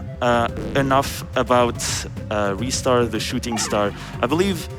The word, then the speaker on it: Ristar: We also have a $25 donation from Ristar saying, Ristar is pronounced Ristar.